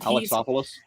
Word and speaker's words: Alexopoulos: some of that, and I think it's George Alexopoulos with all the Opoulos at the end. Alexopoulos. Yeah, he's apparently it's really not that hard. You just have to take out all the extra syllables you put in there.